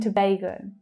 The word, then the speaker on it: Tobago: Trinidad and Tobago, Trinidad and Tobago. Trinidad. So that's all short vowel sounds. Trinidad, Trinidad. The reduced and sound. Tobago, Tobago. That's the A as in day vowel sound.